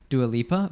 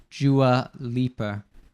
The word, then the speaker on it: Dua Lipa: They say Dua Lipa. So that you have like the D turning into like a J sound, Dua. And then what's it called? Like the R sound at the end of Lipa.